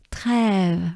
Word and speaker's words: Trèves: So here we have Eve. Rêve. So just a breath. We take a good breath to pronounce it together. Rêve. But it starts with a T. So we need to, it's always hard to pronounce the R when there's a consonant preceding it. So, te rêve, trêve, right? Trêve. So let's take a good breath and go slowly with it.